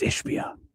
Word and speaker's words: Ishbia: You said the name wrong. It's Ishbia.